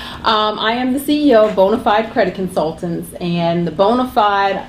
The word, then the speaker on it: BONA5D: Yeah, it's spelled a little different. B-O-N-A, the number 5D, but it's pronounced BONA5D.